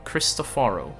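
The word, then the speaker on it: Cristoforo: Christopharro, right? That's how they say it in game. Sorry, I'm I'm I've been I'm forcing myself to pronounce names and stuff the way they do in game, but like for example, it's it's it, you know, I want to call him Christophero. I want to call it Flur Dei, right? But that's not how they pronounce it.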